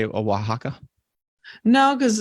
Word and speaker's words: Oaxaca: no let's see here how to pronounce here we go Oaxaca Oaxaca oh come on Oaxaca that sounds right Oaxaca Oaxaca aren't you